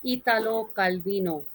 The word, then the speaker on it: Italo Calvino: next uh author postmodern author is Italo Calvino this is the Italian pronunciation and he is famous